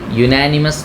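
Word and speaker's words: unanimous: ശേഷം വരുന്ന വാക്കിന്റെ ഉച്ചാരണമാണ് ഇത് യുനാനിമസ് എന്ന വാക്കാണ് അപ്പൊ വോവൽ സൗണ്ട് അല്ല തുടങ്ങുന്നത് യു വൈ യു യു എന്നാണ് ഇത് നമ്മൾ ഉച്ചരിക്കുന്നത് അപ്പൊ യു എന്ന് പറയുന്നത്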